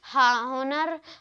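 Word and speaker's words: honour: बस आगे बढ़ते हैं, तो हमारा चौथा इसमें भी था हॉनेस्ट, हॉनर, हावर, हेयर, इसमें एच जो है वो साइलेंट है।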